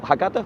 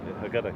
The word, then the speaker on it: Haggadah: doing is they're taking something that predates your Haggadah. What did you pronounce it? Haggadah, yeah.